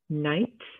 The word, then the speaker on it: knight: k in the beginning now this knight k n i ghc is like a knight in shining armor that you know defeats the dragon it's not nights like the opposite of daytime it's nighttime next we have gnome